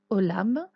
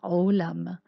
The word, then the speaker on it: עולם: En tout cas, le ayin peut être silencieux. On peut dire olam, ou il peut être prononcé. Dans ce cas-là, on dit olam.